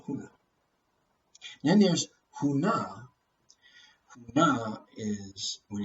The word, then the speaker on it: Huna: Huna is, when it's pronounced that way, means to hide, to conceal, to disguise.